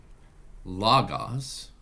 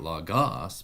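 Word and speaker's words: λόγος: write well word here La Goss it would be not log-off's but it would be Lagos or in the case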